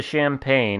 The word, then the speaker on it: Champagne: do the correct pronunciation it's not champagne like we Americans would say it's a champag yes mhm oh we got